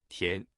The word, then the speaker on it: 田: In today's video, we'll teach you the Chinese character for rice paddy or field pronunciation. Tian.